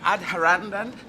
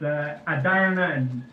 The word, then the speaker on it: Adharanand: is your first name Adharandan? No, the H is silent. I heard you say that. That was a pretty good guess, actually. It's Adharanand, and it rhymes with another land. Adarand.